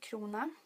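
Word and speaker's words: krona: to you about that sweden has the currency clona our crown i'm gonna refer to the crown because that's how you say it in english and that is actually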